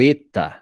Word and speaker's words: eta: Aí o eta e o ômega não se pronunciam com acento agudo, tá? Então você vai pronunciar ele fechado, como se tivesse um acento circunflexo.